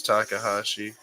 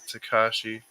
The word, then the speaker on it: Takahashi: tekashi or Takahashi H I think it's Takahashi I was always pronouncing it uh tekashi oh brother secret we